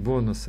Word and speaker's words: бонусы: Правильно говорить, бонусы от компании.